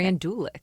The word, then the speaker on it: Randulic: Randulic.